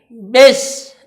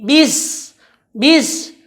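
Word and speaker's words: بسم: yaitu bacaan Bismillahirrohmanirrohim nah disini kebiasaan kesalahan orang membacanya yang pertama itu ada di bis ia membaca bis tidak dengan menarik mulutnya maka bacaannya tadi miring ke huruf e dia membaca seperti ini best base tapi bis-bis dan ada juga membacanya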